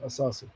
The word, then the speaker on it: Asasi: Um as am I pronouncing right, Greg? Yeah. Asasi.